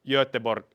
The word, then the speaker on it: Göteborg: But if you know how Göteborg is pronounced in Swedish, it ends with something that is slightly like between Finnish J and I.